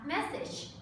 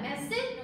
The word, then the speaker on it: message: Các bạn lưu ý nhé, message đọc là message, nhấn vào tiếng thứ nhất và âm chờ đằng sau đúng không? Message, chứ không phải message đúng không?